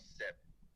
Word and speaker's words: XZEVN: Well, right now, what we've developed is a solution called Seven, and Seven, which is spelled XZEVN.